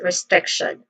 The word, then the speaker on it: restriction: Pronunciation wise, we start with we which is a short e vowel sound and then strict which also has a a short e vowel sound and then t i o nan. Again, this is restriction. Stress syllable is on the second syllable.